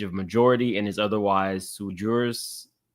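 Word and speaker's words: sui juris: Defendant Eric is over the age of majority and is otherwise sujurus. How do you pronounce that correctly, though? Let's see. Oh, okay. So, it is so Soie Jorus.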